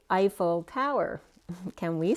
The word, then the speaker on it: Eiffel: So first that came up was, say Eiffel Tower. Can we say Eiffel Tower? And then when I looked up Eiffel Tower, the way phonetically it's spelled out is I and then full, like an eyeful.